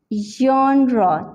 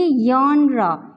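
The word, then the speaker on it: genre: अब हम देखते हैं स्ट्रेस किस पर है, जॉन, जॉनरा, जॉनरा। तो इस वर्ड को इस तरह से हम प्रोनाउंस करते हैं, ये इसकी करेक्ट और एग्जैक्ट प्रोनाउंसिएशन है। अगर हम इसे कहेंगे यॉनरा, मोस्टली मैंने देखा है इस तरह होता है, कहते हैं यॉनरा, तो ये यॉनरा नहीं होगा।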